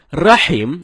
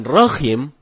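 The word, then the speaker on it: رحيم: ada sebagian kita membaca rahim dengan Rohim ini merubah makna rahim artinya yang maha penyayang sedangkan Rohim artinya Maha merdu bacaan yang benar Nyai salah dengan huruf ha ha dalam tenggorokan jadinya Rohim bukan roh Hai kalau temen-temen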